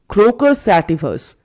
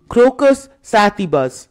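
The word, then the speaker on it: Crocus sativus: Colonel বললেন, ক্রোকাস স্যাটিফাস, এটা অবশ্য ইংরেজি উচ্চারণ, শব্দ দুটো লাতিন ভাষার, তাই শুদ্ধ উচ্চারণ হল ক্রোকাস স্যাটিবাস।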